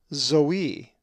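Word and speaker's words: ζωή: A Greek word that has the lowercase omega is Zoe, which means life, and is number 2222. The accent is over the eta, Zoe.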